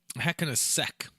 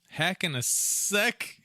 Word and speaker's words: Hell in a Cell: Hacking a Ceck. Ooh, don't say that word. Hell? I can't say hell anymore. Oh, no. A Ceck. Yeah. Hacking a Ceck. It was a big... It's a soft C for those of you that don't know.